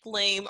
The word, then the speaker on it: Lume: deodorant yes i like gloom or lume i think is how she pronounces it l-u-m-e and it's like a